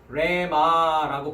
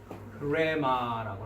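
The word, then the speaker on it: ῥῆμα: 그래서 레마라고 발음하지 않고 히읗 발음을 먼저 해서 흐레마라고 한다.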